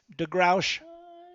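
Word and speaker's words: D'Grouch: And how do you pronounce that, sir? Degrouch. It's French.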